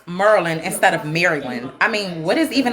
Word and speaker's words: Maryland: come on bro I'm not getting I'm from Merlin of course I pronounce Merlin instead of Maryland I mean what is even a Maryland Maryland